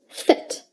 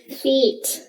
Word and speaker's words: fit: sound in feet but when you say fit make sure you keep the sound as short as possible say it with me fit if you prolong the sound you will accidentally say feet as you know there